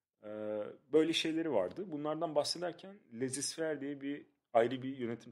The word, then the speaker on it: laissez-faire: Bahsetmeye çalıştığı şey, söylemeye çalıştığı şey laissez-faire diye okunuyor burada.